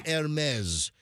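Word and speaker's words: Hermès: JLo walking around with a half million Hermes and it's H E Res. You know people might think oh it's Hermes. No, it's it's French. It's pronounced it's Hermes is how you say it.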